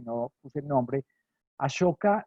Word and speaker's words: Ashoka: Ashoka se escribe en realidad Ashoka, A-S-O-K-A, Ashoka, como suena, digamos Ashoka, se puede escribir con S-H y normalmente se pronuncia Ashoka.